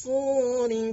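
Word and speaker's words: الصور: Yawma yunfakhu fakhu fis, sad juga tebal, fis suri fatatuna afwaja wa futihatis samaa'u fakanat abwaba wa suyyiratil jibalu fakanat saraba.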